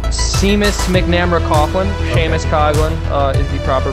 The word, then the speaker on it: Coughlin: Coughlin is the proper pronunciation.